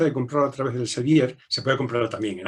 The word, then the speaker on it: Elsevier: El libro está publicado por Elsevier con tal cual suena, Elsevier, pronunciado en español con V, y Elsevier le lleva